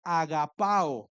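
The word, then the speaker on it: ἀγαπάω: La palabra en griego para ama, cuando dice Dios ama, eh, esa palabra en griego se pronuncia agapao, que de ahí viene la palabra ágape, que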